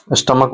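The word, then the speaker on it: stomach: लेकिन क्या होता है? उसका जो उच्चारण होता है यानी प्रोनाउंसिएशन उसका के होता है। जैसे एग्जांपल स्टमक जिसे बोलते हैं स्टमक उसका उच्चारण जो है ना के है तो उसके अंत में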